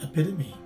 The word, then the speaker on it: epitome: you will see that the stress is in the second syllable the letter t is pronounced as letter d as an adductor and the letter e at the end is a long e as represented by the macron sign or the line at the top so this word is pronounced as epitome the second word we